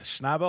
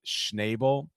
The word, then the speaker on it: Schnabel: But I do for the A to be pronounced as nay, it would have to be n a y, n a e, or at least an